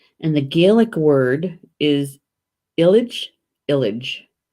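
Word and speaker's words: eilid: the english word and the gaelic word is Ilic village spelled e IL id village and I'm using the pronunciation guide alright so see see around the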